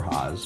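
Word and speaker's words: Hoz: It's It's Haz, but because of the difficulty of my name, I just go by Haz, H O Z. And um I I'm have a lot of questions for Haz, but we're going to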